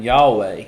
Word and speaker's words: Yahweh: and that's what this reads I I am Yahweh say that is my name and my glory